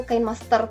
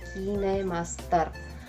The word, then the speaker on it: KineMaster: yang saya gunakan kinemaster dulu saya kira bacanya itu kain Master ternyata Bacanya adalah kinemaster kemudian ada isye ada